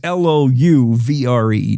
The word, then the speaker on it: Louvre: It is Louvre, just so you know.